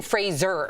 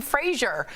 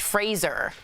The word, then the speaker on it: Fraser: So it's Brendan Fraser. Yeah. Like Razor. Right, and then I watched the Adam Sandler interview. He kept calling him Fraser. And he was like, I guess it doesn't matter. I felt so bad. And yeah, I never would have thought, but it's more Irish, Fraser.